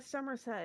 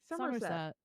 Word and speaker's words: Somerset: Somerset. Somerset? No, emphasis on the Summer. Summer. Somerset.